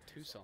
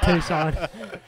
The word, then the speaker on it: Tucson: Tucson or something.